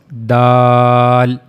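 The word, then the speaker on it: دال: So that's how you can easily pronounce dal dal.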